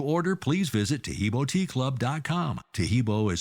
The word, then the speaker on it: Taheebo: I quit taking that and you know so teibo club's original pure piaco super tea helps build